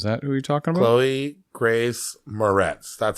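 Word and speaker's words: Chloë Grace Moretz: Chloe Grace Moretz.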